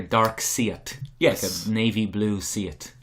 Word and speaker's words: Darkseid: see Isis I said say it like a dark see it yes navy blue see